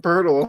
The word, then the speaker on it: Poeltl: Like every fan base is like, go get Jakob Pertl.